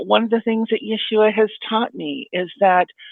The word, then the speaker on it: Yeshua: you say Yeshua how do you say it Yeshua uhhuh uh let me know a coup that's